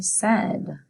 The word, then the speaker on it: said: Say it with me, said. S-A-I-D, said.